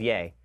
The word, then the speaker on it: Ye: I had said that it was Yee which mistakenly thought that when it was like Yee that it was like Jesus but apparently it's yay so I've been I've